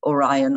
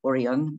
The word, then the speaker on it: Orion: and here's here's the the constellation or orion or orion both uh pronunciations again are valid and b above orion